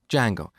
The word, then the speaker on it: Django: framework called django so it's spelled with a silent d and it's pronounced django it's a web framework